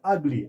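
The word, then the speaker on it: ugly: एन अगली एन अगली यहां पर यू जी एल वाई युगली नहीं बल्कि अगली अगली जब हमने इसका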